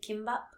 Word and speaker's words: kimbap: The singular K can also be a G. So that's why you also see kimbap spelled with the G.